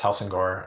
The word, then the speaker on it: Helsingør: Yeah, you did a pretty good job pronouncing it Helsingør. I mean, that's the English version.